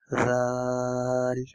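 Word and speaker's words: ذال: So to pronunciate Sa and Zal, we have to use the same technique. We have to touch the tip of our tongue with the corner of our upper teeth.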